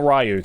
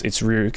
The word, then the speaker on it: Ryuk: If you watch Death Note, you'll know it's not Ryuk. It's Ryuk.